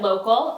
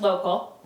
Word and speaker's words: lo.kc.al: You can follow me at local, lo.kc.al. Pronounced local.